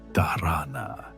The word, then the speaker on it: dharana: She developed what she called digital dharana, using the Sanskrit word dharana, pronounced dharana, which means concentration or focused attention.